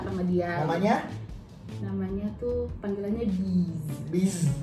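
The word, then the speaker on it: Beez: Namanya tuh panggilannya Biz. B-E-E-Z. Bacanya Biz. Kota. Kok kota? Biz Kota. Maaf nih. Ya itulah gitu. Bis. Ya, secara bacanya bis.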